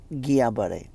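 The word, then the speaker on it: Guillain-Barré: a r r e is pronounced as gabare it is not infectious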